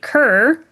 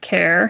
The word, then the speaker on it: Kerr: He pronounces it kerr. However, it is actually pronounced care.